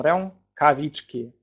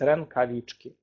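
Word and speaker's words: rękawiczki: Так, ну, оно «э» с носовым призвуком рękawiczki. Рękawiczki. Более упрощенное произношение – это рэнкавички. Так, мы можем вначале, если нам трудно это произнести, просто говорить рэнкавички.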